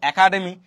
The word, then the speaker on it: একাডেমি: তাহলে এখানে কি আছে এক যুক্ত শব্দ একাডেমি তাহলে এখানে এর উচ্চারণ কি হবে বিবৃত এর উচ্চারণ কি হবে বিবৃত মানে এরকম হয়ে যাবে এ একাডেমি একাডেমি মানে কমার্স একাডেমি আর